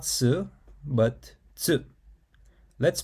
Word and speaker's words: つ: Tsuki, tsukue, tsukau. Moon, desk, to use. So the pronunciation for tsu is unique. It's similar to the tsu sound in cats or pizza, but smoother. It's not tsu, but tsu.